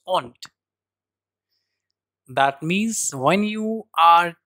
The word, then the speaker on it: und: and in English owned und in German but the pronunciation is aunt that means when you